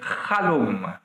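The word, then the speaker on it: חלום: connaissons bien, sauf que ça se prononce avec un chet, qui est une voyelle exagérée prononcée en hébreu, donc chalom.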